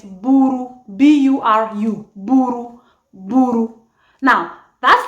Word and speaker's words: buru: It's spelled as B-U-R-U.